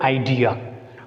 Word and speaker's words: idea: And come to the next important word, idea. Though it is a noun, we put stress on D because I is a weak syllable. DEA is a strong one. So weak syllables do not take stress.